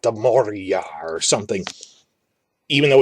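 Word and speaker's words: Mohra: it the right way it has non-english sounds in it but something like the moriyah or something even though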